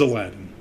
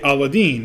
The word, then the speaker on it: Aladdin: now my name again i will say is aladdin to me it's simple i'm named after a